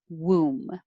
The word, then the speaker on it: womb: you should you could that b is silent but just think of